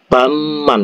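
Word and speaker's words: 밤만: ya kan seperti itu Jadi babman kalau di orang Korea ngucap itu bacanya adalah baman itu ngucapnya kok bisa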